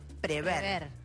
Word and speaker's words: prever: hay un verbo que muchas veces escuchamos mal pronunciado es prever o prever la forma correcta es prever sin la doble y con ahí vamos